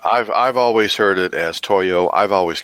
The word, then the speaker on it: Toyo: T-O-Y-O does in fact rhyme with yo-yo.